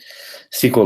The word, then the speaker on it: SQL: is so microsoft see a part sequel it's pronounced sequel it stands for structured query language and it's